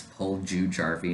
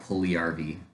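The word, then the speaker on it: Puljujärvi: not pulging jarvie it it's paul jew jarvie not pulley rv get it right get his name right pronounce the jays um it's uh darnell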